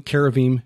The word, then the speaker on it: cherubim: yeah so they were not the the cherubim Cara Veeam is the correct pronunciation in the Bible were not they were